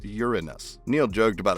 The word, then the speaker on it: Uranus: lyrics, but he went on to correct Kanye's pronunciation of Uranus by letting him know that Uranus is only acceptable to say if you're 8 years old. After that, it's supposed to be pronounced Uranus.